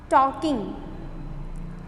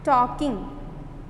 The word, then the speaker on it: talking: Talking. Talking. L is silent, so please underline L.